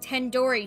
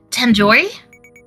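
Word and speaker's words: tandoori: you at least recognize tendor chicken you're saying it wrong wait really tandori tandori the do isn't like indor it's like dooo head you 5 years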